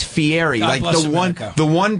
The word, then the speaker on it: Fieri: In America, it's Fieri.